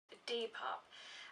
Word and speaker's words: Depop: let's get to it d pop i think that's how it's pronounced it's spelled d-e-p-o-p in case you want